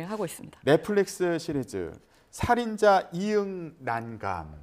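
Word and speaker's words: 살인자ㅇ난감: 넷플릭스 시리즈 살인자 이응 난감. 네. 예. 살인자 이응 난감이라고 읽는 게 맞죠? 네, 뭐 여러 가지 해석은 있지만 그래도 보통 읽을 때는 이응난감으로 읽는 네, 것으로.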